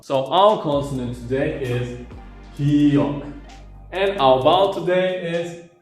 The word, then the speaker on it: ㄱ: If you romanize here, it is G or K. Actually, it is not G or K, it is in between because it is not Ga, it is not Ka, it is Ka.